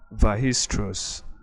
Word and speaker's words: Weierstrass: It's named after a German mathematician, I think the 19th century mathematician, named Karl Weierstrass. Okay, that's it. From the name is a German name. Weierstrass is pronounced Weierstrass.